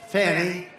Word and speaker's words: Fani: But one after another, you had Fani, F-A-N-I, which is usually pronounced Fanny.